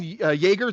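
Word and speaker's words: Yagher: I think Kevin Yeager, that's how you pronounce his name, the special effects guy.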